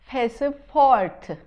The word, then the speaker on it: passport: Passport. 좋아요. 여러분, 이 발음할 때 passport의 P는 P 발음이에요.